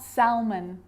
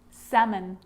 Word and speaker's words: salmon: this makes it easier in these words where L is really difficult to pronounce then it's silent ready let's try it could could should should talk walk yoke half-caf salmon not Selman salmon so we got through